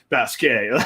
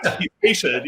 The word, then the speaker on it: Basquiat: It's like, it is not Basquiat. Like it's be patient.